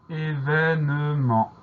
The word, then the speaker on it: événement: Et on a un T muet à la fin du mot auquel il faut penser évidemment. Événement, E accent aigu, V, E accent grave, N-E, M-E-N-T. Le mot événement est un nom commun,